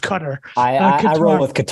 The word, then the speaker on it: Qatar: Joe did an amazing YouTube video about uh cutter I believe it's pronounced Qatar I've been told by a lot of like people that travel a lot it's like trying to be wrong it's it's pronounced cutter and that's that's good enough uh so I'll